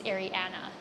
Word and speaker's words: Arianna: People say Ariana, Ariana, anything, but the way it's pronounced for me is Arianna, like Arianna, A-N-N-A.